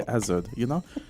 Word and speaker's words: Azard: I said, before we get into problems and, you don't know how to pronounce the name, just think about Hazard. Just take off the H and you say Azard, Just Yeah, no, actually, no, it does make a lot of sense, though.